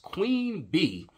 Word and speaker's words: Queen Bey: Beyonce Gazelle Knowles Carter, born September the 4th, 1981, is an American singer, songwriter, and businesswoman nicknamed Queen Bey, pronounced Queen Bee, she is regarded as